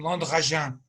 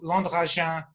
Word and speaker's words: Landragin: And of course, Landragin was impossible to pronounce for Australians. And so I ended up kind of opting for Landragin as a pronunciation.